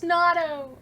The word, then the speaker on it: Nado: the blanket trap right he mispronounced nado's name which do not get me wrong almost all of us do the first time right until we listen and hear it's natto but if you're i'm